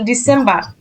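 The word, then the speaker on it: Dezember: ডিসেম্বর ডিসেম্বর ডিসেম্বর ডিসেম্বর এই জেটের উচ্চারণটা তার মানে বলা হয় সেট তাহলে ডিসেম্বর ডিসেম্বর ওকে আচ্ছা আর কেউ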